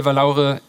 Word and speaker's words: Vallaure: She told me it looks Spanish and it's not pronounced wrongly if I say Vallaure in a very German way, right?